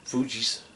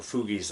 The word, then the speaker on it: Fugees: Till I start singing Fugees, or Fugees, I think is how it's pronounced.